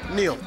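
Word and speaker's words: Neale: Neal. Neal? Okay, because it's spelled N-E-A-L-E, and my last name's spelled R-E-A-L-E, and it's Real. So I always thought it was it Neal? But it's Neal.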